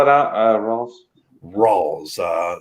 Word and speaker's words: Rawls: old he studied his whole life on uh spell it out uh ross rolls uh it's our a-w-l-e-s rolls uh oh okay okay yeah that's it okay